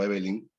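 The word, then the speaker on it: Eveline: en el cuento Evelyn, bueno, creo que se pronuncia así, ¿no? Sí. Evelyn, sí.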